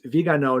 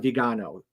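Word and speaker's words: Viganò: The only thing that would have made his response to that guy better would have been, so first of all, it's Vigano, not Vigano.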